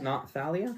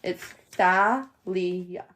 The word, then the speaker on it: Thalia: It's Thalia. All right, cool. The first A is a and then the last A is uh and the I is pronounced E.